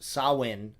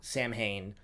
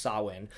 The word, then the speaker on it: Samhain: as well is very good and yes it's pronounced sawwind not Samhain uh I got called out for that in the store and then I looked it up and it apparently is pronounced sawin so I called it saw one in my